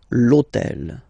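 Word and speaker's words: l'hôtel: on purpose thisel okay because it starts with Ash but remember that in French we don't pronounce Ash okay so basically the first sound of the word is the vowel O Okay so for the same reason a needs to disappear lotel okay so we if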